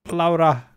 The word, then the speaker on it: Laura: the stream and also laura that's how you pronounce it in finnish and in english we're